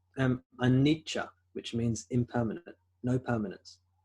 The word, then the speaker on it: Anicca: I think it's Anicca, which means impermanent, no permanence. Anicca. I think it's usually spelled in English or in the Roman alphabet, A-N-I-C-C-A, Anicca. Anicca, some people pronounce it.